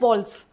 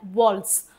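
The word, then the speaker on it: waltz: इसको बोलते हैं वॉल्स। वॉल्ट्स क्या होता है? इसको प्रोनाउंसिएशन कैसे होता है? वॉल्स।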